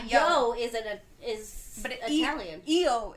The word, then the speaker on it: io: is it is Italian EO is how you say I in Italian and say yeah there's